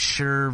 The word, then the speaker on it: Schur: It's pronounced differently. It's Schur versus Sheer.